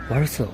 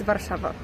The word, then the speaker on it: Warszawa: In Polish or English? In English? In English, it's Warsaw. Warsaw? Yes. Oh, and in Polish, it's Warszawa.